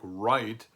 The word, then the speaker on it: right: So for instance, we have words like right, which is closely related to the German word Recht, das Recht. The GH in English is no longer pronounced, but it's still there.